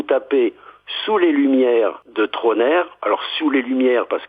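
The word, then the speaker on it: Trauner: Sinon, sur votre téléphone, vous tapez sous les lumières de Troner. Alors, sous les lumières parce que c'est les lumières du cinéma. Donc vous tapez sous les lumières de Troner.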